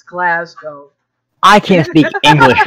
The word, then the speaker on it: Glasgow: I know I think you never do the ow the ow is bad it's Glasgow I can't speak English